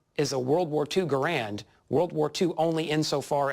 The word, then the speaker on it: Garand: When we're speaking of the inventor himself, I like to say John Garand. When we're talking about the rifle and the Garand Collectors Association, We used the pronunciation that the whole world used and Mr. Garand accepted.